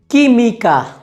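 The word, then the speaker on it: química: अगला नियम ये कहता है कि अगर कू और ऊ साथ में है तो यहाँ पर ऊ का उच्चारण नहीं होगा। उदाहरण के लिए अगर हमारे पास कू, ऊ और ई है तो हम यहाँ पर ऊ का उच्चारण नहीं करेंगे, तो हम यहाँ पर सिर्फ कू और ई को साथ में जोड़ेंगे और उसका उच्चारण करेंगे।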